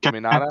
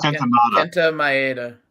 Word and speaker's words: Kenta Maeda: Minata? Kenta Maeda.